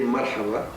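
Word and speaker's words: مرحبا: Hello, you can say marhaba.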